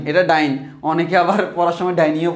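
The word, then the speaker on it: dyne: এটা প্রকৃত উচ্চারণ হচ্ছে ডাইনি না, অনেকে ডিওয়াই ডাইনি ডাইনি। তো আমার এখানে হচ্ছে এটার প্রকৃত উচ্চারণ হচ্ছে ডাইন, ডিওয়াইএনই, ডাইনি না।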